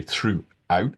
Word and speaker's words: throughout: throughout throughout throughout okay you might notice I'm not really pronouncing the final T often in British English we don't so we don't usually say throughout it's more like throughout it's kind of a a glottal stop there so throughout uh maybe